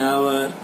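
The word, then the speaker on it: hour: You will get just an आवर to solve this puzzle. आवर यहाँ x silent है, इसलिए ओ को हम मानेंगे कि यहाँ पर ओ वोवेल से स्टार्ट हुआ है।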